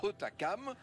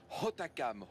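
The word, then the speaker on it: Hautacam: quand du haut enascon le h est toujours fortement aspiré quand on prononce correctement le nom de hotakam on entend le tamtam qu'il contient hotakam tamam tamam et tout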